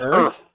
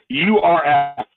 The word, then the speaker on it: Earth: He can't say Earth. It's Earth. Earth. URF.